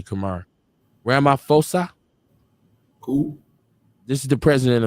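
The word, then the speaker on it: Ramaphosa: fosa I want to say it correctly Kamar Rama fosa who this is the president of South Africa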